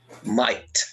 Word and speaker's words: might: So here, which ones are silent? Which are the silent letters? The first one is L. L. Number 2, E. E. Number 3, L. L again. L again. Number 4, K. Number 5, E. Number 6, G8. GH. GH. Might. They are never pronounced. They are always silent.